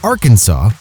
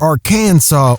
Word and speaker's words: Arkansas: of the arkansas code it should be pronounced in three syllables with the final s silent the a in each syllable with the italian sound and the accent on